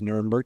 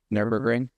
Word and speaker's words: Nürburgring: Nuremberg. What did I say? Nürburgring. What did I not say? Nuremberg. You said Nuremberg. Did I pronounce it wrong? I think that's the city. So what did I say? You said Nuremberg. What am I supposed to say? Nürburgring.